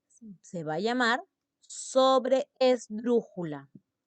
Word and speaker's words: sobreesdrújula: En la tras antepenúltima sílaba, se va a llamar sobreesdrújula. Sobreesdrújula. Tiene una doble E.